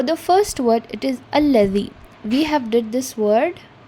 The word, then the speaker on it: الذي: Okay, it is allazi. The front part of your tongue comes out a little bit between the two jaws, that is your upper jaw and lower jaw, and you need to pronounce it as alladhi.